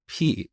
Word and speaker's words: pi: instead of pi but that's how we learned this back in iran we pronounce it as p and i think greek